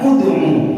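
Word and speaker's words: ادعُ: Seandainya dibaca qalu terus berhenti, bacanya ud'u. Loh, kenapa dibaca doma? Lihat yang tengah, nya itu dibaca doma. Kalau dibaca kasroh atau fathah maka wajib dibaca kasroh.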